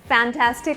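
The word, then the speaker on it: fantastic: ये ट्विस्ट करके बोल सकते हैं, हमने मजाक में जो है फैंटास्टिक को फंटास्टिक कह दिया, तो that's fine, but the original pronunciation is फैंटास्टिक। It's called फैंटास्टिक, नॉट फंटास्टिक।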